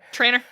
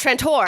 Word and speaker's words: Trantor: Because I wanted to say it like a southerner and say Trantor. Trainer. No, But I was like, no, it's Trantor.